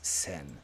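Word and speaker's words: 扇: you can hold you can ultimately be pronounced Olga or sen in this case it's sen sensuno sen radicals in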